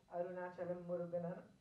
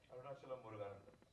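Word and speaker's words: Arunachalam Muruganantham: point of view, and you've made him portray Arunachalam Muruganan, have I said it right? Arunachalam Muruganandam.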